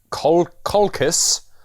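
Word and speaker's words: Colchis: and tells him to seek colcus um which is spelt really weird and not at all like the word caucus um yeah but yeah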